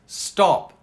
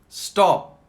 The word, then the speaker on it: stop: So, for example, we know it's stop, but when people are speaking, in actuality, they might say something, they might sort of almost silence the P. So listen to this. Stop. Stop. You don't hear the P so much, do you?